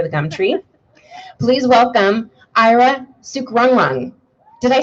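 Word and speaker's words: Ira Sukrungruang: Please welcome Ira Sukrungrung.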